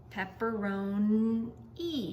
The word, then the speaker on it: pepperoni: no pepper ro and pepperoni you hear e but it's spelled with an i tricky I like pepperoni